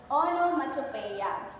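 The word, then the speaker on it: onomatopoeia: So this one class it is pronounced as onomatopea.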